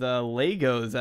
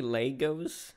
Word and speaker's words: Lego: Well, some people say Lego, some people say Legos. I've always said Legos. I think Lego is the correct term when you're talking about, like, plural, but, yeah, I don't really. Oh, because I always say Legos. Yeah. Wait. Wait, how do you say it? Lego. Lego? Lego? Yeah, Lego. I say Lego, and then if it's plural, I say Legos.